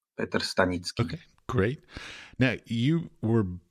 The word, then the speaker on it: Petr Stanicky: name correctly for me my name is Peter stanitzki pronounced in Czech yeah pet stanitzki okay great now you